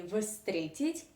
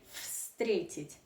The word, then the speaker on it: встретить: transformed into fun so if you want to pronounce this Russian verb correctly you do not say frustrated you say frustrated so the first sound of this Russian verb